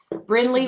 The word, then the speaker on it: Brinley: Brinley Wene. Oh, that's cute. And it's spelled B R I N L E I G H.